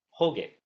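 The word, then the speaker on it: Hōge: So in Japanese it's it gets romanized as H O G E, but it's actually a long O. So it's like whole.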